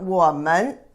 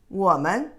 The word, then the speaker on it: 我们: But you don't pronounce this as a full second tone. It's a light touch tone. 我们 is not 我们, 我们, 你们, 你们 is also the plural of you.